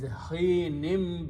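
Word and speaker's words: حين: In the tajweed, when you have noon sound, this two, and there is a ba, then this noon is pronounced as a meme. So it is hinim bi-izni rabbiha, by the permission of its Lord.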